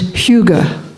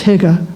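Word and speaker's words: hygge: Danish do is is Huga it's spelled h-y-g-g-e a lot of English people look at it and think it's Higa but I found out it's Huga Huga so what does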